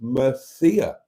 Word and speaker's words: Murcia: If you Google, how do you pronounce Murcia, it comes up with an audible pronunciation example that says Mercia.